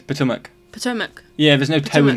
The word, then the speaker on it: Potomac: say with absolute confidence it is pronounced potomac if only our final